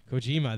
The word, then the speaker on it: Kojima: koj sounds never say his name right coima Kojima thank you my God yeah it's Kojima I